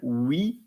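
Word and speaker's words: huit: Pt set And then with the H is not pronounced in French. So it's H UI T and it's same like we or with um and then N E UF and it could be nine.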